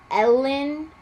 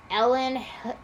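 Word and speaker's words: Elin: It's called Winter in Paradise by Ellen Hildebrand. I'm sorry if I butchered your first name. It's like Erin, but it has an L, so Ellen Hildebrand.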